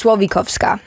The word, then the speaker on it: Słowikowska: I say Slowikowska. It's your name. Isn't that crazy? Well, because in Polish, it's Słowikowska. Okay. And then in English, we both just have made up phonetic pronunciations.